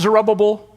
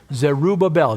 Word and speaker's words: Zerubbabel: Not Zerubbabel, not Zerubbabel, Zerubbabel.